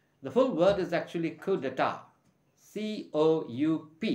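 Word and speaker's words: coup d'état: full word is actually kudata c-o-u-p-d-e-t-a-t but we pronounce it as kudata it's a french origin word basically it means taking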